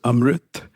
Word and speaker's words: Amrit: My first name is pronounced Amrit, but when people get this two-syllable name wrong, I sometimes playfully used to say, "It's um like in umbrella, rit rhymes with sit."